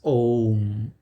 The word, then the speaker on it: Om: So Maharshi Mehi says in his discourse, this Om consists of 3 syllables in Hindi or Bharati or Sanskrit. We write it is a combination of A, U and Ma. A, U, Ma. Combined together, it reads Om.